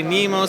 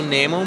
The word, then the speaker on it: Nemo: like some people say Nemo some people say Nemo and I say also Namo more so it's was